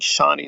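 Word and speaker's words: Chani: task on pronunciation like they don't like how i'm pronouncing shawnee well you don't have to listen to the videos but i think shauni is a perfectly respectable way to say the word and people say well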